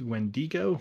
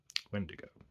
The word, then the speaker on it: Wendigo: Now, you may have heard that word pronounced Wendigo, which would be correct if the word were Spanish in origin, which it is not. Wendigo.